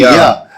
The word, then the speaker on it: courtyard: The D, Courtyard. Yard. Yeah. Uh-huh. You got to get that D on the end there.